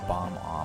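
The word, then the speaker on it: Bob-omb: Or a bomb-om if you're reading it as it's spelled. I always grew up calling them ba-bombs.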